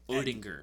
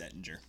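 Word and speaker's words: Oettinger: And between the pipes, they have Jake Odinger. It's Ettinger. Ettinger? Ettinger or Ettinger, but the O is silent.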